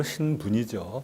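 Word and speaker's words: 新聞: 일본어로 신분이죠, 발음은.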